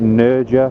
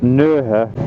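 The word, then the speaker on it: Nerja: is actually near her I was calling it nerger for a while very very amateur pronunciation of Spanish which a lot of you will probably cringe at but knew her and yeah we're going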